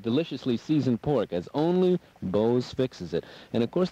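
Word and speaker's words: Beau's: One of the finest restaurants in the Bronx, 2915 Westchester Avenue, Bo's Restaurant, B-E-A-U-S is how it's spelled.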